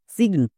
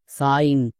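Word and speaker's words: sign: যেমন দেখো এস আই জি এন এর জন্য কি উচ্চারণ করব? সিগন একদমই না। এর জন্য উচ্চারণ হবে আইন। কেন? কারণ এখানে শব্দের শেষে আইজি এন আছে। তার মানে এটা হচ্ছে ওয়ার্ড প্যাটেন। এর জন্য আইন উচ্চারণ হবে।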